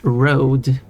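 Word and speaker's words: RØDE: however it is pronounced road even though it's spelled R it's like okay just using a just using a word that is exactly like a Danish word and it's not pronounced a Danish way.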